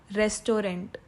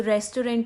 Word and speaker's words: restaurant: Restaurant. So restaurant is totally wrong. The correct pronunciation of this word is restaurant.